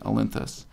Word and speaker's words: Olynthus: I just note I'm not mispronouncing Olympus. This is a different city-state, Olynthus.